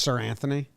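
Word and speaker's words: Seranthony: is that guy's name sir anthony sure is it's pronounced sir anthony yeah like he's knighted that's like a real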